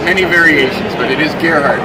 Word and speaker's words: Gerhard: Yeah, I get many variations, but it is Gerhard. Rhymes with Amelia Earhart.